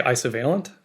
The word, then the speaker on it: Isovalent: impressed with your pronunciation I would say isovalent uh which is very close to you I've also heard isovalent